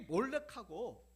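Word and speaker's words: מֹלֶךְ: 요거는 에라고 읽고 위에 찍힌 거는 오라고 읽어요. 그래서 요거는 몰렉, 요거는 멜렉 이렇게 되는 겁니다.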